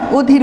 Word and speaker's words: অধীর: যেমন অধীর, আমরা লিখি কিন্তু খাতায় অ দিয়ে, অধীর বলার সময় অধীর বলি।